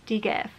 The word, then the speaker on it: DGAF: Colourpop Insta story and they pronounced this shade as Dgaf. So I basically just know that this shade is pronounced as Dgaf because before this I